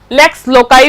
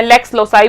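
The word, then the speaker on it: lex loci: इसके प्रोनाउंसिएशन अलग-अलग है। इसको लेक्स लोकाई भी लैटिन शब्द है। लेस लेक्स लोकाई भी बोलते हैं, लेक्स लोसाई भी बोलते हैं और लेक्स भी बोलते हैं।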